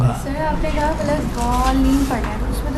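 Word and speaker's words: الضالين: دال جیسا ہے، دال نہیں ہے.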